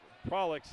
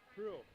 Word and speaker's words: Prue: And a great job by the goaltender, Haley Prolix, and she'll hold on. How do you say your goalie's name, last name? Say it again. Prue. Just Prue.